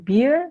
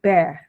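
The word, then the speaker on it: bear: membaca nyaris uban Kemudian untuk kata ini binatang itu membacanya Bukan bir tapi Bere Bere Hai Terus yang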